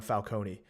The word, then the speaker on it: Falcone: we see Carmine Falcone I think it's Falcone so I'm gonna start saying Carmine Falcone mainly because I was watching a cosmonaut video and he said Falcone is the right way to pronounce it so I [ __